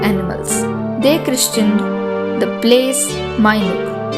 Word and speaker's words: Minuke: They christened the place Minuke, M-I-N-U-K-E, Minuke.